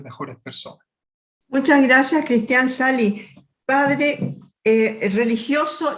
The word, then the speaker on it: Sahli: que lleva mi nombre, se llama Cristian Sali Escritor. Bueno, ahí lo pueden buscar, se escribe con una H intercalada.